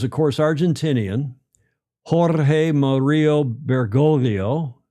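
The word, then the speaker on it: Bergoglio: Jorge Mario Burgolio. There's a G there. The second G is in Spanish and inal, at least in Italian, mostly in Spanish, is silent. Begolio was his name before he became Pope Francis.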